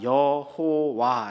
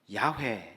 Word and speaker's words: 야훼: 갖다 바쳐 가지고 저 나 여호와 라고 잃게 된 거예요 때 그는 본래 발음이 아니죠 본래 발음은 야외 였을 거라고 보는 겁니다 그래서 여러분 이 야외에